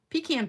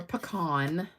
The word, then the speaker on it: pecan: So we're going to be stamping with pecan pie or pecan, depending on how you say it. Pecan or pecan.